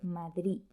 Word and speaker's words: Madrid: duda un pequeño apunte cuando la d está al final de una palabra muchas veces ese sonido se pronuncia de forma diferente por ejemplo en la palabra madrid muchos hablantes eliminan la